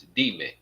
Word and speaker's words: dime: in here, it's not dime. We have to get used to pronouncing things in Spanish. Get our brain to thinking in Spanish, and it makes that easier. It's not dime. It's dime.